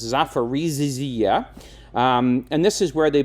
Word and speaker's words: Zaporizhzhia: But then there's this other place called, I can't quite pronounce it, it's got too many ZHs in it, but it's Zaporizhzhia.